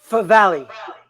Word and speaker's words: Favale: So we have here, and if I'm saying Wow, this right, you pronounced it correctly. You're the first one. Favale.